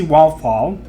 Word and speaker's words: Walfall: A new report claims that Ava DuVernay's Naomi, which stars Casey Walfall, I don't think I pronounced that correctly. Sounds like waffle.